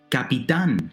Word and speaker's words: capitán: Capitán, captain. It's an aguda word, last syllable is stressed, and it ends in an N, so we need a written accent.